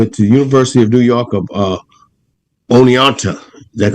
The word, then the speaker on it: Oneonta: He went to the University of New York of Oneonta.